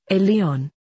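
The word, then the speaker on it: עליון: high god is called elian and is pronounced a leon phonetically it is almost exactly like alien because that is exactly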